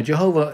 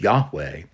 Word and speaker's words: Yahweh: oh thou great Jehovah now Jehovah is is the way that people sought to pronounce the name of God although we know now that the more correct way of pronouncing his name is Yahweh but Jehovah sounds better